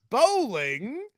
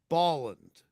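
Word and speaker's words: Bolland: an appreciation to him it's not bowling that's what you said it's Boland it's Boland oh that would be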